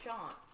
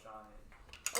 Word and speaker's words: Sean: my name is pronounced all the time cuz it's Sean it is yes I thought was Shan well that's better I got called shaan this morning have a coworker whose last name